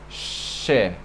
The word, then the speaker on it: ş: This S with this comma, let's say, is pronounced as She. She. Like SH in English.